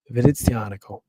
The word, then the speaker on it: Venezianico: you want to know the real way to pronounce this company, I'll tell you right now because I've practiced this. Venezianico. You got to do the C. Got to carry the C. Got to make it a little spicy.